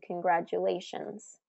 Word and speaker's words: congratulations: So that's fourth syllable stress in congratulations.